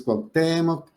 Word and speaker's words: Cuauhtémoc: Entonces, Cuauhtémoc es una palabra grave, termina en cualquier otra letra que no sea NS vocal, entonces debe de acentuarse.